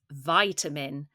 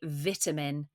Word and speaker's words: vitamin: dog walking trails vitamin Americans pronounce this vitamin but in England we say vitamin and this is any